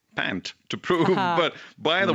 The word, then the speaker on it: Pant: Now, as if he had a point, or should we say pant, to prove. But by the way, his family name is pronounced Pant, just yes.